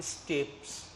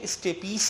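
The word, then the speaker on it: stapes: है, Malus incus और स्टेप्स। इसकी करेक्ट प्रोनाउंसिएशन स्टेपीस है, लेकिन हमारे यहाँ स्टेप्स बोला जाता है, इसको स्टेप्स है।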